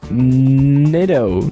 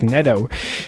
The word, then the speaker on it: Neto: you least expect and Zach Nitto Neto no I found out how to pronounced that finally Zach Neto it's his first major